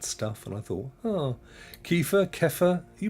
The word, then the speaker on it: kefir: those things that um you can pronounce it how you want and he pronounced it kiefer but he was american in fairness so it could be kefir rhymes with heifer which is a young calf god those stream labs